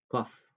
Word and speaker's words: cough: cough cough cough اللي هو سعال او الكحة. طيب والجي اتش هنا بتتنطق اف.